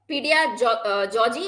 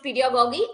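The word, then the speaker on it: pedagogy: and Andriy ए पडि पीडिया जजी और एंड्रो जजी कई लोग गोगी भी पढ़ते हैं कई लोग इसे प्रोनाउंस जजी भी करते हैं तो आई प्रोनाउंस ट पीड गोगी एंड एंड्र गोगी सो नाउ पीडियो गोगी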